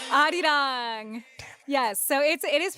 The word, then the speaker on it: 아리랑: re-ring. They're not. You're right. Arirang. Yes, so it is pronounced.